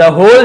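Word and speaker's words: whole: I don't need, मुझे जरूरत नहीं है, टू सी देखने का, द होल journey, W silent है, पूरी यात्रा देखने की मुझे जरूरत नहीं है।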